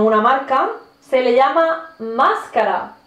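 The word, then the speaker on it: mascara: marca se le llama máscara que curiosamente es una palabra española pero se pronuncia más cara más cara cierro ciego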